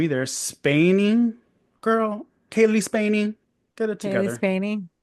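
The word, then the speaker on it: Cailee Spaeny: Okay, can't even pronounce the second name either. Spaney girl, Kaylee Spaney.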